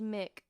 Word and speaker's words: Mick: It's pronounced Mick.